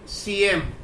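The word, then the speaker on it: Syiem: राजा उ तीरथ सिंग सीएम हे सीएम जे आहे हे चीफ मिनिस्टर नाहीये सीएम असं नाहीये ते सीएम एस वाय आय इ एम असं त्याचं इंग्रजीत स्पेलिंग होतं सीएम याचा अर्थ राजा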